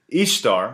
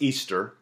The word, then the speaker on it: Ishtar: Ishtar, which is pronounced Easter, was a day that